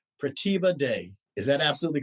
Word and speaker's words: Pratibha Dey: and please forgive me if i say your name wrong but i think i have it right pratibha day is that absolutely correct see look at that